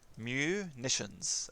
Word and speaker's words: Munitions: Munitions, as in like ammun. Munitions. Hello, munitions! Hello, Mittens. There we go, dude. You feel better. Like ammunition, except without the ammu part.